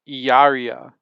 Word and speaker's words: Hilaria: baldwin by the way if she was actually spanish in any way it would be pronounced yaria not hilaria because when you have two l's next to each other in spanish it's the same sound as a why in english dion said to me